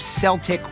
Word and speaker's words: Celtic: the two places the legacy of Celtic with a soft C live on is with a soccer team in Scotland and a basketball team right here in Boston.